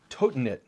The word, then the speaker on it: Totinit: the brand is called totinit. Totinit, and I double checked on the pronunciation there. Totinit, like I'm toting it around.